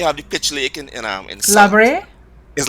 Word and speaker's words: La Brea: Because in Patois, Labre is pitch. So it's spelled La Brea, but we say it the Patois way, Labre.